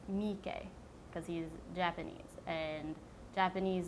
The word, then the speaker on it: Miike: And each syllable in Japanese is actually pronounced the same length, and except if it has the double vowels, which the double vowels are pronounced longer.